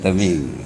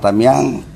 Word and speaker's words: Tamiang: Teming ya, Teming. Jadi sebagian orang Tamiang merasa saya tak katakan tersakiti, tetapi ada perasaan tak enak ketika mendengar ucapan Teming itu.